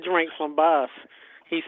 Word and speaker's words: Bas: boss and I thought it was bass so I said bass and he was like no it's boss I was like oh I was right I um because of Russian you know the way pronounce that's usually the way they say it in in Russia is boss but I thought it